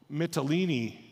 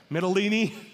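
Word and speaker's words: Mytilene: we traveled together to mitalini it's kind of like tortellini that's the only way I remembered how to say it midolini the next day we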